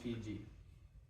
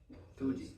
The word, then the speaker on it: Fuji: Green wasabi hot sauce from Mount Fiji. Why is it spelled with two J's? No, Fuji.